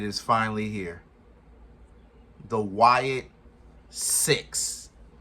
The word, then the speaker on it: Sicks: The Wyatt 6. Not spelled S-I-X. Spelled like sick with an S. Or sick with two S's. S-I-C-K-S. 6.